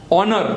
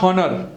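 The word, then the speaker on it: honour: थी तो दैट अंगूठी is called air loom ऑनर नॉट हनर सो योर ऑनर have you heard it योर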